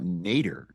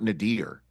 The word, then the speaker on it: nadir: point number two is I say uh nater uh not nadir um you know that's the way I I pronounce that word and I'm wondering if